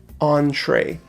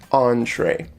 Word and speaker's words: entree: this word is pronounced entree it looks like entry but it's entree okay that means your